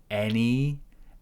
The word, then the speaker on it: any: Any as in head.